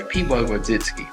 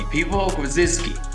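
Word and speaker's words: Piwo Grodziskie: A lot of people would say Piwo Grodzicki, but it's a Polish beer, so it'd be Piwo Grodzicki, like that.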